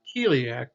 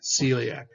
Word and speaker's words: celiac: part following the rule that's not heliac but the true word or the pronunciation of this would be celiac so again some words